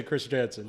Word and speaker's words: Kristjansen: But do you have the Norwegian pronunciation? You told me to say Kristjansen.